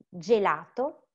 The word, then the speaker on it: gelato: We have ginocchio, gelato, giacca, giornale giusto.